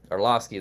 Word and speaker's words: Orlovsky: Dan Orlovsky, I think is how you say it. I don't Orlovsky. remember. Orlovsky, there you go.